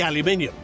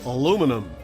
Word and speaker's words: aluminium: metal more specifically in the aluminium or aluminum as our american cousins would say my name's i'm